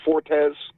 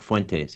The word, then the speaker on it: Fuentes: Nick Fortes. What's his Nick? The anti. Fuentes. Nick Fuentes.